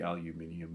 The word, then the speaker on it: aluminium: The British say aluminium. We say aluminum. Okay.